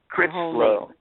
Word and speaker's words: Critchlow: I can't pronounce it. Crits.